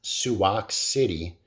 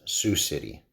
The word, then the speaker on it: Sioux City: pronunciation I guess of it's um not soo bahk City it's Sioux City and about 15 years